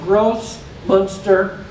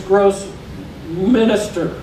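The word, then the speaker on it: Grossmünster: i want you to be careful because it's pronounced gross munster and i don't want you to think that it says gross minister okay so i don't want you to call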